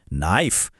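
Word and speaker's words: knife: यसको सहि उच्चारण के हो? नाइफ जहाँ के साइलेन्ट छ।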